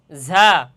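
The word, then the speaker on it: ظ: যা হরফের মাখরাজ হচ্ছে জিহ্বার আগা। আপনারা খেয়াল করেন আমার দিকে আমি কিভাবে বলি? জিহ্বার আগা। সামনের নিচের দুই দাঁতের আগা এবং সামান্য মধ্যখানে লাগাইয়া আপনার ঝা শব্দটি ঝা হরফটি উচ্চারণ করতে হবে।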